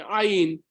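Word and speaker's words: עין: The Mishna Berurah writes, Perush Havarat Ayin hu behozek. Ayin comes from, it's otiot geroniot, it comes from the throat, not from just here.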